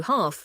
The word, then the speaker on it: half: D examples o walk Yami oal hardi o half NIS if the L is followed by a